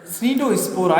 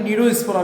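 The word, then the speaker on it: Cnidospora: सार्कोमेस्टिगोफोरा, दूसरा है स्पोरोजोआ, तीसरा है स्नीडोस्पोरा या फिर नीडोस्पोरा भी इसको बोलते हैं, साइलेंट वर्ड इसमें नीडोस्पोरा भी आप इसको बोल सकते हैं।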